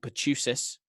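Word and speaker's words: pertussis: for whooping cough the actual disease is called pachoo sis that's how you pronounce it and this was it's very interesting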